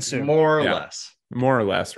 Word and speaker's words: Suh: Suh. More or less, right around there. Sue, everyone just calls him Sue. It's Sue.